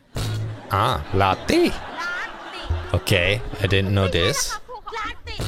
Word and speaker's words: latte: อ่านอีกทีลาเต้อ่านอีกทีลาเต้เขาอ่านว่าลาติ Ah, latte. ลาติ Okay, I didn't know this.